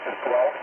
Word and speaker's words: Guelph: And my daughter lives just on the outskirts of Guelph, and she's been living here many, many years, and with her husband and, of course, my grandchildren.